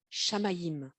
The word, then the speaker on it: Shamayim: Ça s'écrit S-H-A-M-A-Y-I-M.